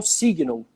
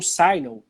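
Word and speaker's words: Signal: dispositivos bem interessante que é o zig não ou sai não dependendo da pronúncia de cada um mas escreve signo né que a como se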